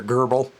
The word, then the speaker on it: GRBL: is your laser grbl most people pronounce it laser gerbil just so that they don't have to spell everything out I brought in a